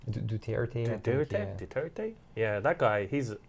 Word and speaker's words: Duterte: Duterte? How do you say his name? Duterte.